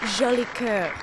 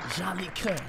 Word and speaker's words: Jolicoeur: Ladies and gentlemen, give it up for Jolicoeur in the building. Hello, hello, hello. Did I pronounce your name, the name right? It's Jolicoeur. Jolicoeur.